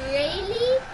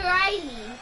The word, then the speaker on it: Raley: It's Raley. And if anyone calls me Riley, I will go insane and walk your house because I can grab your address.